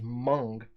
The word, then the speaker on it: Meng: Now, I read somewhere that the correct way to pronounce Meng for Meng model is Mung. but it doesn't sound right. And I've never heard anybody say that, but apparently it's Mung, not Meng.